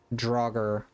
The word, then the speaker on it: Droger: The actual name is Droger. Droger. Okay. Droger. Like the Skyrim enemies.